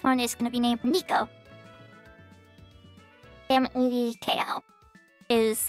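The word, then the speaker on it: Neko: So, this one is gonna be named Nico. N-E-K-O is how I spell it.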